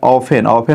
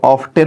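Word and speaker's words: often: धनी लोग प्रायः, द रिच आर ऑफन मतलब होता है प्रायः, इसको ऑफ्टेन मत पढ़िएगा, टी साइलेंट इसमें है।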